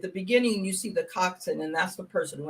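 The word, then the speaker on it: coxswain: and now it's it's how do you pronounce it it's Cox coxin coxin okay so it a rope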